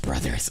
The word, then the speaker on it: Bros: right now Super Mario Bros 2 it's pronounced Brothers okay sorry Super Mario